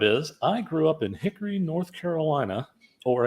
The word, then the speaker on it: Hickory: I grew up in Hickory North Carolina or as we say here Hickory there's no o in it you know fewer syllables yeah if you're syllables